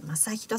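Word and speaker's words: 正広: 正しいに広いと書いて、まさひろさんの包丁で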